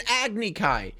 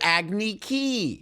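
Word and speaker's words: Agni Kai: to a t also m knight doesn't even call it an agnikai he calls it agni ki what is his obsession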